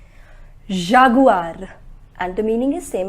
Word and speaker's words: jaguar: next s g remember we do not pronounce it as J it is G Jaguar and the meaning is